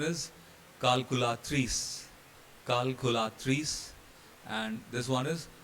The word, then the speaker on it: calculatrice: So in both these cases, C will become K. And pronunciation is calculatrice.